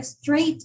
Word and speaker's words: straight: En esta palabra straight hay una excepción, que a pesar de que tiene muchas letras, ¿sí? Y es de 2 sílabas, straight. Bueno, en realidad para ellos suena es por el sonido. En el sonido es monosílabo.